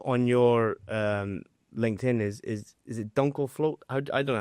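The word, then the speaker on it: Dunkelflaute: So, I mean, one of the things I have seen a lot on your LinkedIn is it Dunkelfloat? I don't know how to pronounce that. Oh, Dunkelfloat.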